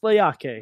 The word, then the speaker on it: Leakee: Looks like Leaky. Pronounced Leaki.